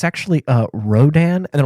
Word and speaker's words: Rodan: to pronounce that uh it's radon and I'm like no it's a no yeah yeah it's Rodan and they're go like yeah yeah it's okay so we'll go we'll go see Ro we'll go see radon I'm like no I've corrected you three times someone's name yeah yeah